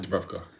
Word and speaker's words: Dubravka: Dubravka.